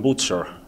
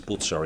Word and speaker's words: Bucer: Calvin admired Martin Butcher, it's pronounced, I guess, Butzer in old German, Martin Bucer, who was